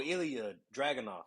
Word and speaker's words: Ilya Dragunov: I'm gonna mispronounce it, but you're gonna correct me when you hear it. Is it Iuga? Oh, Ilya Dragunov.